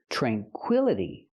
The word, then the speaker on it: tranquility: this word this is tranquility it changes because the i l is the stressed syllable so we pronounce it I like this is tranquil tranquility tranquility that's the noun I